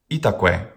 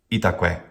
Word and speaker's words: itaque: Itaque. Itaque. Each syllable has a short vowel, and it ends in that very same short vowel. Itaque.